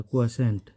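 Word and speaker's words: quiescent: ये क्विएसेंट, इसको पढ़ेंगे क्वी फिर फिर सेंट, इसका प्रोनाउंसिएशन ऐसा है क्विएसेंट।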